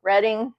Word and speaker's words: Reading: Michael Kramer and Kate Reading. I don't know. I have to say Reading because that's how it's spelled. I'm pretty sure she pronounces it Reading.